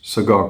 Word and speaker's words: Segar: Ce qui fait d'ailleurs que en anglais ça se prononce Segar comme un cigare.